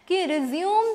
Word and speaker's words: résumé: क्या है भाई तो इट is pronounced as रिज्यूमे all right so what is इट रिज्यूमे और रेजम अ और you means it कैन be pronounce eight रिज्यूमे और रिज्यूमे तो इट्स नॉट रिज्यूम kindly I I just beg यू और I just request you I just make you learn that don't pronounce your biodata as रिज्यूम all right so इट